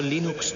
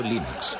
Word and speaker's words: Linux: La primera pregunta de la categoría fácil es, ¿cómo se pronuncia Linux? Bueno, yo Linux lo pronuncio Linux. Sin embargo, si fuese Linus Torvalds, no hay duda de que lo pronunciaría Linux.